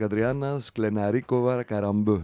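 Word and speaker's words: Adriana Sklenáriková Karembeu: Alors je le prononce en slovaque, Adriana Sklenarikova Karambeu. Je l'ai bien dit ou pas?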